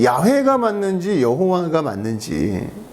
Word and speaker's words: 야훼: 근데 이 여호와라는 것은 라틴어로 발음한 것이 여호와라는 거고 그 다음에 이 YHWH 저게 어떻게 읽을지 모르잖아요. 그러니까 우리나라 말로 한다면 뭐만 있는 거예요? 자음만 있으니까 기역, 니은, 디귿, 리을만 있는 거예요. 모음이 없으니까 어떻게 읽을지 몰라요. 거기에다가 여기에 모음을 A를 붙여놓은 거예요. A하고 E하고. 그게 야훼가 되기도 하고 야훼가 되기도 하고 발음에 따라서 다른 거예요.